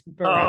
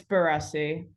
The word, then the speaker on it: Barresi: Actually, no, it's Barresi. Oh, okay. What is it? Go ahead, tell the people. It's Barresi.